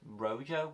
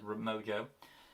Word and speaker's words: Rojo: Moving on to the episode known as The Alliance, which is also, I believe, the villain is Rojo. I mispronounced it as Mojo.